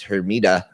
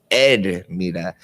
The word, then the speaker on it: Hermida: so you have a My last name is Hermida. That's the way the gringos say it. But when Hispanic people say it, they say Edmida. They don't even pronounce the H.